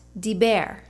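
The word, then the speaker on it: דיבר: In the second line, it is pronounced diber.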